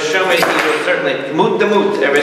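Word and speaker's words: מות תמות: Mut the mut. Like Mort. Yes, it's like Mort.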